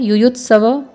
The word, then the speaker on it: युयुत्सवः: यहाँ पे दोबारा से विसर्ग है युयुत्सव के साथ, तो युयुत्सवः।